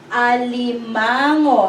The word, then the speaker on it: alimango: So, li-ma-ngo. Alimango. How many syllables? 1, 2, 3, 4. 4-syllable word. Alimango is crab.